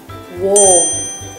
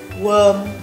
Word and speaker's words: warm: Warm. Warm. If you pronounce it as worm, you're not alone. But the correct pronunciation for the word is warm.